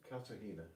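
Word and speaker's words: Cartagena: How do you pronounce it? Kartahena.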